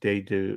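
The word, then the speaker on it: Dedeaux: his name jody it's de du he used to be a a pitcher with the dodgers it's d e d uh e a u x uh uh dado they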